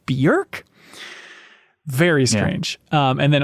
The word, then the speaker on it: Björk: She's on the MinnMax Show podcast, music expert, talking about Bjork, which apparently pronounced Björk rhymes with jerk.